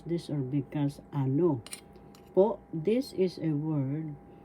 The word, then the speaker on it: ano: the examples or halimbawa ano po ano po that means please pardon me first syllable a second syllable no ano the second syllable has the accent so you pronounce this or because ano po this is a